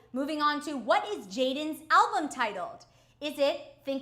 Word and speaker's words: JXDN: If you're a fan of Jaden Hostler, it's JXDN, pronounced Jaden.